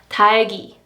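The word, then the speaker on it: 닭이: So for example, the pronunciation of these is 달기, 달기, 달기. E is attached to 닭, right?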